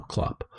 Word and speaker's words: clop: then be invested into making your clop machine it's spelled c-l-o-p if you want to know klopp so it was um you know so that's